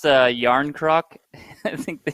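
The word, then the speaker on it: Jarnkrok: He pronounced Yarn Croc. I think they called him Young Krog.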